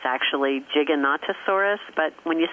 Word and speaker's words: Giganotosaurus: all kinds of dinosaurs, including, I like to mispronounce it intentionally, Gigantosaurus. It's actually Giganotosaurus, but when you say Gigantosaurus, you kind of get the picture.